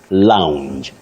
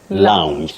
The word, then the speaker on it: lounge: English be English okay that word is pronounced Lounge loue it has that Glide Lounge just like SC Not SC